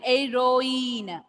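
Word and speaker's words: héroïne: Here H will be silent. Ir. Here also H will be silent. Heroine.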